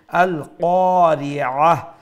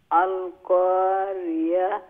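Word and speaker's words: القارعة: আল কারিআহ, এইটা যদি আল কারিআহ বলি তাইলে এটা হামজার মতো উচ্চারণ হচ্ছে, অর্থাৎ গলার নিচ থেকে, নিচ অংশ থেকে, অর্থাৎ সিনার সাথে গলার যে অংশটা আছে সেখান থেকে উচ্চারণ হচ্ছে। তো এইটা কি হবে, তো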